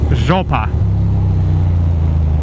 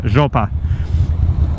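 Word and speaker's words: жопа: It's a must know, and the word is zhopa.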